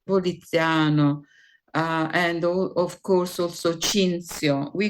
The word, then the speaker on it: Cinzio: and of course also Cinzio. We call it Cinzio because Cinzio is written with TH and it is the Latin form, but in Italy we pronounce the TH as Z.